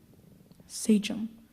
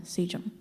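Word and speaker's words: sachem: of the 12 governors of the Tam Society Saum s a c h e m Saum that is cor actually a high honor here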